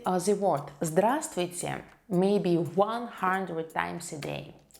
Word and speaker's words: Здравствуйте: Здравствуйте. Здравствуйте. Hello. We don't pronounce the first letter right here.